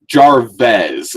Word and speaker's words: Jarvez: Jarvez is how he pronounced it.